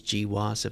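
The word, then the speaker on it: GWAS: the genome-wide Association studies gee wasup that's how it's pronounced and that yeah basically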